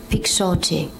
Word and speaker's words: Pixote: And can you first say it and then spell it for yes. us? Yes, Pixote, P-I-X-O-T-E.